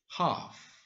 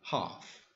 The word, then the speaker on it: half: And be careful with the pronunciation of this word, is half. Entonces, recuerden no pronunciar la L en esta palabra, half.